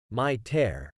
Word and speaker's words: miter: depending on the meaning when referring to the headgear or The Woodworking joint it is typically pronounced as my tear however when used as